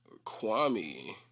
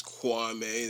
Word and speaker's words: Kwame: i'm working on it's called kwame and uh kwami but i'm saying kwame because i feel like more people like more people here that like know him as kwame the pronunciation is kwame that's how stephen a smith made his name